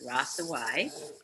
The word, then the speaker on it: Hrossowyc: hard to pronounce but you don't pronounce the h or the C so it's rasa Y and I live in